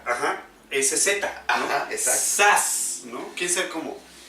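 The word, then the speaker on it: Zsasz: ¿Cómo es la pronunciación? Sass sería... Sass. Ajá, con... ¿No? Es que es curioso Sass. porque su nombre es Víctor Sass, pero lleva una Z con una S seguida, o sea...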